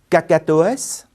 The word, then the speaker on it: cacatoès: mots invariables après auprès attention certains mots font exception et se prononcent S c'est le cas de faciès cacatoès palmarès herpès une autre fonction très